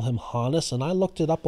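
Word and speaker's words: Honus: for the longest time throughout my life i mispronounced his first name as hohness but i heard other people call him hanus and i looked it up on baseball reference and the phonetic spelling says it's honest so i apologize to hannes for mispronouncing his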